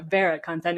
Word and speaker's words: VeraContent: some slightly different pronunciations Americans like to say ver actually I was impressed with your correct pronunciation of our name so thanks for Vera content is how we say it um so why